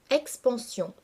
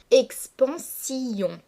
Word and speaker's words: expansion: l'expansion des choses infinies expansion se prononce habituellement en trois syllabes expansion mais afin de respecter la métrique du verre le lecteur va devoir dissocier les deux voyelles de la dernière syllabe et prononcer expansion c'est ainsi queon aura